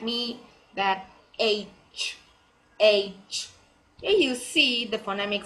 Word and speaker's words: H: Noakhali, Chandpur and Borishal, many of them regional languages pronounced as this letter H as haze, but it's not the correct spelling. It seems very funny, but it is not pronounced like this. It will be H, not haze.